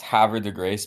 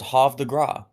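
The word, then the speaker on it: Havre de Grace: always killed me about that town that it's pronounced H the grace because like the one time that I thought I was being like a cultured person I was like oh no it's hav the gr it's like no that's H Grace H to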